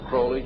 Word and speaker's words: Crowley: about was Alistair Crawley he likes to have his name pronounced Crowley to rhyme with holy and uh the satanists